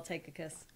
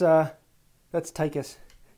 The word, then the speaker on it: Tychus: So he just saw Tychicus. So you have Tychicus? To give the... But did I say it wrong? Yes. I always throw the other syllable. That's Tychus.